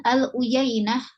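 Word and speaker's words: العيينة: pasir kemudian Aluy aluyain kita tahu harakat nya U Yai Nah dari mana tentu saja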